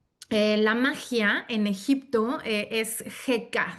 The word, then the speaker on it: Heka: La magia en Egipto es Heka, se pronuncia Heka, Checa.